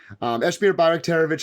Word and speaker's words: Esmir Bajraktarevic: Esmir Bajraktarevic is how I go by.